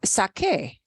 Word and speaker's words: saqué: So to keep that k sound, when I make the yo form here in preterito, I have to spell it differently.